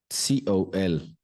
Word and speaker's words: cologne: COLOGNE. COLOGNE. Look at the sound symbols. Cologne. Okay, cologne. Listen and repeat with me. Cologne. The G is silent.